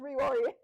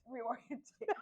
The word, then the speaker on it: reorient: Reorient. Reorientate. Yeah. It's definitely not reorientate, like I was saying. I was adding way too many syllables.